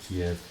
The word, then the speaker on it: Kyiv: I'm pronouncing it Kiev.